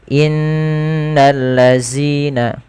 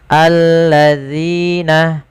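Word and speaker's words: الذين: dan hati-hati teman-teman di dalam melafalkan Zal jangan sampai diganti dengan huruf Zai sebagaimana bacaan yang seperti ini innalladzina ketika kita membaca seperti itu dia merubah huruf dan merubah bacaan hati-hati agar sempurna dalam pelafalan ujung lidah tempelkan dengan Gigis dari atas alladina innalladina kemudian padafal amanu ada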